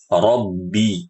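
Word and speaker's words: رَبِّ: dan kesalahannya tersebar ini berlebihan dalam mendatangkan sifat syiddah pada huruf ba ya atau memasukkan gunah pada huruf ba ini ya contoh alhamdulillahibbilbil nah baca bnya itu ibu-ibu saking berlebihannya ini bibirnya itu mengerucut apa ya apa Ibaratnya eh mengerenyit gitu ya mengerenyit ke dalambibibi ini enggak boleh ini berlebih jadi biasa aja rbi bibirnya bertemu rbi rbi rbi begitu nah ada kesalahan yang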